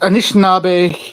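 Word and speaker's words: Anishinaabe: our indigenous uh expert uh NJ uh please pronounce those those words correctly for me. Uh so it's Anishnab Hon Treaty Turtle Island.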